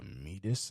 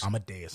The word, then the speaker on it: Amadeus: play, and some people were theorizing it was Medus. Is that how you say his name? Amadeus.